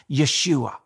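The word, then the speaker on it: ישוע: past thousands of years in Hebrew Jesus name is pronounced Yeshua he fulfilled at least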